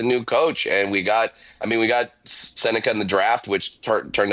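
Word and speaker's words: Sennecke: Brad, how much cooler would Beckett Seneca's name be if it were Beckett Senecki, like it's spelled?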